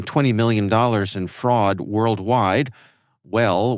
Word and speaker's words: W3LL: WELL, we note, is spelled W3LL because, of course, it is.